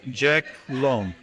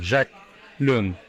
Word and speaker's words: Jacques Luong: It is Jacques Luong. For the French pronunciation, yes, Jacques Luong.